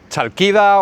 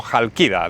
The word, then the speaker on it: Chalkida: Que vamos a zarpar ya rumbo a Calcis, o Chalkida o Jalkida, depende cómo lo pronuncies, más griego, griego antiguo, griego más moderno, ahí está la cosa.